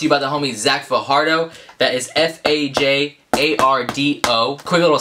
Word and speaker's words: Fajardo: This video has been brought to you by the homie Zach Fajardo. That is F-A-J-A-R-D-O. Quick little side tangent, whenever I see J's that are pronounced like H's, it kind of makes